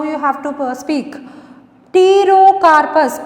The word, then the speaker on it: Pterocarpus: Pterocarpus, P silent here. Pterocarpus santallinus.